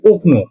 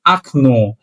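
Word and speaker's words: окно: সেটা হল আকন ও কে এনও একচুি এটা উচ্চারণ হয় উকন কিন্তু একচুয়ালি এটাকে আমাদের পড়তে হবে আকন এই প্রথম ওকে আ হিসেবে পড়তে হবে।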